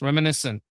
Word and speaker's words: reminiscent: She doesn't know that when these two words together, it's just an S, reminiscent.